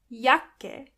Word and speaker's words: Jacke: Jacke Jacke is jacket. And this is where you can see that the letter J is pronounced as Y.